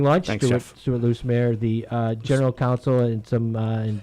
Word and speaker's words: Loosemore: Loosemore, not Loosemere.